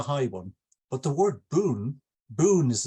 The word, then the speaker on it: bun: there with the high one but the word Boon Boon is it's pronounced in Japanese means sentence or sentences so